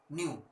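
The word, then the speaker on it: ν: इसको कहते हैं न्यू, न्यू इसको प्रोनाउंस किया जाता है न्यू। NEW न्यू मत समझिएगा, न्यू मतलब नया होता है, ये वो न्यू नहीं है ना, इसका प्रोनाउंसिएशन है, नाम है न्यू।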